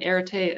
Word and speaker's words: Areté: i am here from erite associates uh it was a very good attempt at pronouncing the company name but almost nobody can get it right the first time so uh yeah irritate associates i also have in